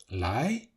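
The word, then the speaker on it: 来: and there is the word to come, also pronounced lai, but this word does not have its own character yet.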